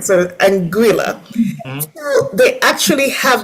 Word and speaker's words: Anguilla: Yeah, we say Anguilla phonetically, it is Anguilla, but I want to make sure I have it right. So Anguilla.